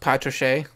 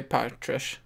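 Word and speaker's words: Patrasche: I think it's like pronounced Patriche, but I would say Patrish.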